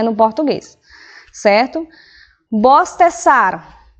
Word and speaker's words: bostezar: Bostezar, lembre que a pronúncia do Z é igual a, dos S, não a do Z ele pronuncia como S.